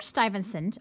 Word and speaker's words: Stuyvesant: off with Peter Stuyvesant this is how you pronounce his name that's why it's next to it Peter Stuyvesant arrived in the new Netherland as its new